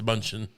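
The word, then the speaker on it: Mnuchin: have an expressed interest I believe it's munchin he didn't know how to say though minuchin minuchin is it I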